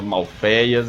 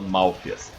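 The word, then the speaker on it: Malfeas: Eu, particularmente, e o Pena, a gente fala Malfeias, enquanto o Pride fala Malfias.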